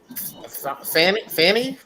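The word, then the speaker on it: Fani: more uh Georgia indictments on uh don don Fanny that's how you pronounce it Fanny's not playing Fanny is like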